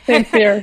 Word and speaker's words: St-Cyr: Yeah, and qualifying in 55th is Guillaume St-Cyr. Is that how you say it? Yeah, St-Cyr.